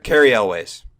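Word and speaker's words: Cary Elwes: How do you pronounce his last name? Carrie Elways.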